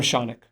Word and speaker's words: Shounak: I'm Shounak, rhymes with Sonic.